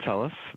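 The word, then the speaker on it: Telles: minutes and may begin hello this is tellis the clark county public administrator my last name is spelled t-e-l-l-e-s again my name is telus or i'm the clark county public administrator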